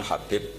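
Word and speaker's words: حبيب: yang nulis Abi Abdurrahman Habib asulami itu di harokatnya kitab itu ada yang nulis khubb tapi yang benar Oh giih yang benar itu bacanya habib habib itu asulami itu ikut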